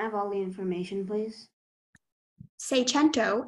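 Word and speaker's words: seicento: hi your word is say chento Magento can I have all the information please say chento is the only pronunciation it's a noun it's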